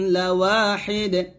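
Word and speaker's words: لواحد: তারপর ইন্না ইলাহাকুম লাওয়াহিদ। ইন্না এখন ওয়াজিব গুণনা করবেন। ইলাহাকুম, ইন্না ইলাহাকুম লাওয়াহিদ। লাওয়া ওয়াও আলিফ জবর ওয়া পাতলা করে বলবেন, ঠোঁটগুলো হবে। ইন্না ইলাহাকুম লাওয়াহিদ।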